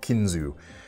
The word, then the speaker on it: Kinzua: We've got the Marilla here on top and the Kinzu here at the bottom. Even though the A is on there, I've been hearing them pronounce it just Kinzu.